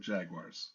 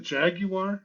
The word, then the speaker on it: Jaguar: Is it Jaguar? Is it Jaguar? What is Jaguar? Don't say wire. Say just like But the Brits say Jaguar, right?